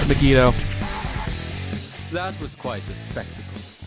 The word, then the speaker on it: Megido: the megido for so which for some reason I keep mispronouncing is magito but it's megido that was quite the